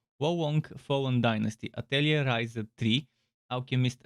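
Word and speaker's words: Wo Long: specific titles volunt let's i hope wow wong is the proper way to pronounce it so wah wonk fallen dynasty atelier riser3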